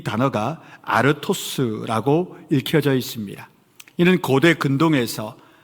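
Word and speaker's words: ἄρτος: 헬라어에는 떡이라고 번역된 이 단어가 아르토스라고 읽혀져 있습니다.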